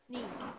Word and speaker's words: knee: Knee. Knee. Knee. Now, can somebody spell the word knee? Knee. Can anybody spell it with letters? K-N-E-E. It's the one with the silent K.